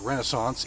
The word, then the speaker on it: Renascence: They spell it R-E-N-A-S-C-E-N-C, so I'm going to pronounce it Renaissance, even though that's not the way you spell